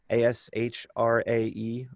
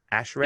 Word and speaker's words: ASHRAE: He currently also serves, I should mention, as the chair of the A-S-H-R-A-E epidemic task force, do you pronounce A-S-H-R-A-E in your ASHRAE .